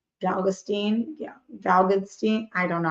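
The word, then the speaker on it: Galitzine: first Nicholas galvanin or my sister told me it's rhymes with magazine galin yeah valstein I don't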